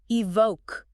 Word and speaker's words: EVOC: And the author makes a big deal about the pronunciation. Yes, evoke.